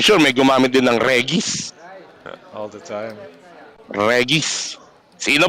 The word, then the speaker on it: Regis: You're using the Western pronunciation of the name, of course, Regis. Nahahawa na ako kay ano eh. Kay Bob eh. 1 goal. Of course, the localized pronunciation would be Regis. May naggumagamit ba ng Regis? It's actually Regis. Regis talaga siya.